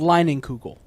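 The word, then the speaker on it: Leinenkugel: berry wise from i never know how to pronounce it lining kugel exactly that's how you pronounce it it's pronounced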